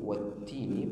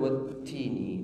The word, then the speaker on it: والتين: Kemudian wattini di situ ada huruf ta yang bertasydid, berharakat kasrah musyaddadah, kasrah yang bertasydid, maka ada penahanan di awal wattini. Jadi pengucapan huruf ta sudah kami jelaskan kemarin, salah satu sifatnya ada hams mahmus, mengalir nafasnya, akan tetapi ada juga sifatnya syiddah, tertahan suaranya. Wattini, wattini, jadi harus ditekan di makhrajnya, dikuatkan.